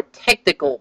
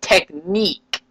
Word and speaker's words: Technic: eventually started using more technical Parts such as cross axles and gears this theme is called Technic or some people pronounce technique this theme is still